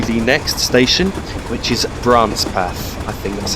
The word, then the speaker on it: Brancepeth: And we'll shortly be going through the next station, which is Brancepeth. I think that's how it's pronounced.